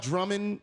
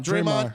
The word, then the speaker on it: Draymond: I'm not worried about Drummond. What's his name? Draymond.